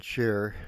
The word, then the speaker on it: Chare: John and Cher, spelled Chare, but pronounced like the singer Cher, moved into a rental house in the fall of 1983 in the outskirts of Grand Junction, Colorado.